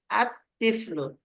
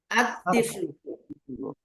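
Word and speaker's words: الطفل: যে তিফলুন একটা শব্দ, এর শুরুতে আল লাগাই দিলে আত তিফলু, কি হবে? আত তিফলু।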